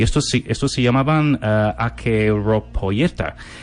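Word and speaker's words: acheiropoieta: Pues mira, te digo cómo se escribe si quieres, pero básicamente se pronuncia Akeropoieta.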